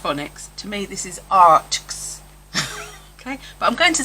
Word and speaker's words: Arrtx: Now I know that everybody on YouTube pronounces this Arrtx because they say art and then X. As somebody who used to teach phonics, to me this is Arrtx.